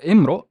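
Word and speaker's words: امرؤ: So Imru, how would I pronounce it without our magical word, is Imru. Yes.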